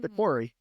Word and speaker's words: The Quarry: The Quarry. That's right. I can't say it. My mouth doesn't work that way. Try to say it like a British person.